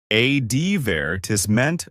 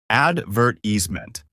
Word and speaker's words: advertisement: English it is additionally stress on syllables may change such as advertisement British advertisment verse American advert eement understanding these variations helps